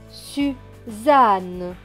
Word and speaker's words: Suzanne: Deux N qui se prononcent N et E, ne. Donc ce mot va se lire su, za, ne. Suzanne, Suzanne.